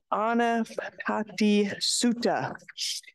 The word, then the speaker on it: Ānāpānasati Sutta: And so as a counteract, he taught this Ānāpānasati Sutta. I have such a hard time pronouncing this. I'm sorry, y'all. Let me say it correctly. Full awareness of breath. Ānāpānasati Sutta.